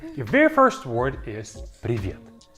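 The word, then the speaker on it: привет: Your very first word is piet. Piet and it means hi.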